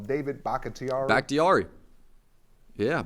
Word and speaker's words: Bakhtiari: David Bakhtiari? Bakhtiari. Yeah, Bakhtiari.